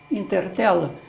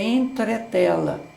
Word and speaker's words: entretela: no comércio perguntas e tem tela aí inter tela beijar é também utilizou o é o substituiu na pronúncia purim ea palavra correta é entretela ou seja essa mudança